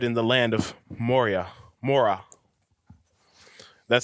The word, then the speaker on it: Morah: the land of Moria Mora that spelled mor aah H is silent more well I ask